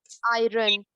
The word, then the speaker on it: iron: Not Iron. you. Iron. Okay. iron. No, the R is silent over there.